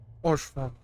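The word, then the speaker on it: Haurchefant: Orchefon. Thank you, I finally know how to pronounce that.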